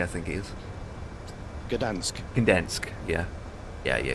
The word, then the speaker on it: Gdańsk: Uh G uh How do you pronounce It's G N G D A N SK K I think it is. Gdansk.